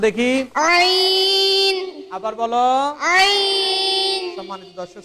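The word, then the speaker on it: ع: এখানে পর হরফটি দেওয়া আছে আইন। আমরা অনেকে এটাকে আইন বলি, এটার নাম কিন্তু আইন না, বরং হরফটার নাম হচ্ছে আইন। এই হরফটির উচ্চারণ কোথা থেকে আমরা জানি না। এই হরফটির উচ্চারণ হয় হলকের মাঝামাঝি জায়গা থেকে।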